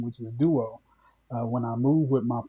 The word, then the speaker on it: Duo: Duo is a common word, even though it comes from Liberia. It's Yeah. pronounced just like it looks.